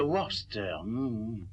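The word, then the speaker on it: Worcester: connaiss ce titre ben Freddy lui aussi le prononce autrement mais ça séppelle W o r c e S T e r vous y êtes ah oui j'y suis le compte de warster sa vieille va se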